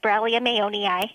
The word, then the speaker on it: Borrelia mayonii: so um the new organism that we discovered Brum aoni and you did say it right good job